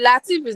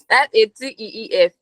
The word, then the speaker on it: Lateef: Ah, the Latif is not Latifi. Should I say EEF. No. Latif? Spell it. Spell it. Spell it. LATEEF.